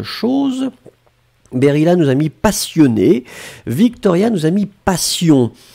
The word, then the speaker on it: passion: Ouais, Abir, vous avez mis passion aussi. Hein, faites attention, passion et patient. Finalement, la seule nuance, c'est la nasale. Vous avez entendu yon, yon, yon, yon. Et moi, j'ai prononcé yan yan yan yan.